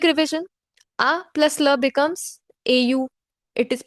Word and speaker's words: au: A plus le becomes au. It is pronounced as O.